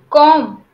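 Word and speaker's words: comb: word for you okay com com huh again the B is silent com so make a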